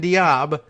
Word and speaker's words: Diab: accountability prime minister hassan diab says now i'm pronouncing it correctly d-i-a-b i haven't heard the